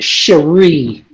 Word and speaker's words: Cherie: i was told here my name is pronounced cherie so cherie sorry okay um